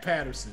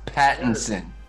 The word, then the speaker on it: Pattinson: guy from twilight uh pat patterson i know i said it wrong but i can't robert pattinson i want to say matt